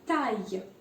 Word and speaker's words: taille: ILL is usually pronounced as Y. So we saw fille. And then we have the next one, taille. Taille means height. Interesting.